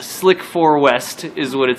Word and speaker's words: SLC-4 West: Your location is SLC-4 West, Space Launch Complex 4 West, Slick 4 West. Slick 4 It West. actually says that on the sheet. Pronounced Slick 4 West is what it says.